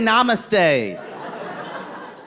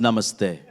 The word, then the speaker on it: namaste: tea foreign t Y and then I say namaste it's pronounced namaste Wendy at yoga says Namaste I don't know